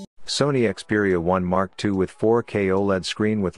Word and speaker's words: Xperia 1 II: We are going to talk about Sony Xperia 1 Mark II, so let's start without wasting further time. The Sony Xperia 1 II, actually pronounced as the Xperia 1 Mark II, is the Japanese giant's